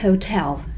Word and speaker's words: hotel: Значит, отель по-английски это hotel. Hotel, hotel. Пожалуйста, обратите внимание, что ударение всегда на второй слог.